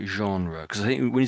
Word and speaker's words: genre: So, this is a bit of a French-based word and it's not e not you couldn't couldn't really guess it from the the way it's spelled I should say.